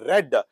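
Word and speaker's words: read: Letter has ಟು ಬಿ ರೆಡ್. ನೋಡಿ, ರೀಡ್ ಇದನ್ನ ವಿ ಟೂ ದಲ್ಲಿ ರೆಡ್ ಅಂತ ಉಚ್ಚಾರ ಮಾಡಬೇಕು, ವಿ ಥ್ರೀಯಲ್ಲೂ ಸಹಿತ ರೆಡ್ ಅಂತ ಉಚ್ಚಾರ ಮಾಡಬೇಕು. ಸ್ಪೆಲಿಂಗ್ ಸೇಮ್ ಇರುತ್ತೆ. ಓಕೆ, ಅಂದ್ರೆ ಕಾಗುಣಿತ ಒಂದೇ ಇರುತ್ತೆ, ಆದ್ರೆ ಉಚ್ಚಾರ. ಇಲ್ಲಿ ರೆಡ್ ಬಿಟ್ವೀನ್ ದ ಲೈನ್ಸ್,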